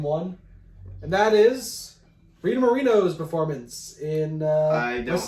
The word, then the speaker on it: Moreno: It's Moreno, right? Am I saying it right? Yeah. It's Rita Moreno.